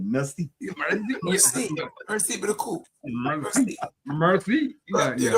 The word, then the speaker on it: merci: And then he had to try and say it like he was from mercy. I said merci.